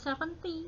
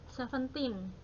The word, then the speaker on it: seventeen: 30 nah ini disini kalau belasan itu diakhiri dengan tim ya Nak ya Jadi kalau ada pengucapan angka yang belakangnya berakhir antini itu Belasan seperti angka 17 yang 17 itu bukan seventy tetapi Seventeen ya Hai kalau 15 ya